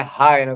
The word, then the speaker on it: Heino: não tem problema mas fica aqui a correção é Rino galera Me desculpa bom como